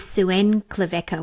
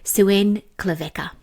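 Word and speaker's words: Xuan Klevec: And so her Instagram handle is Suen Cleca, which is spelled X U A N K L E V E C KN K A sorry K A Suen Clea.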